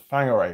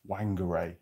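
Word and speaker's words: Whangarei: kaiwaka and then onto a place called fang which is spelled with a W so it's more like Wanger as we call it as as English uh I got to Wanger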